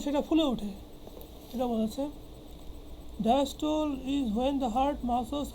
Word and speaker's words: diastole: তো যাই হোক, তা আমরা কী বলছিলাম, এখানে একটা বিষয় আছে ডায়াস্টোল অ্যান্ড সিস্টোল। কোনো বই উচ্চারণ দেয় ডায়াস্টোলি এবং সিস্টোলি, কোনো লেখকের উচ্চারণে পেলাম।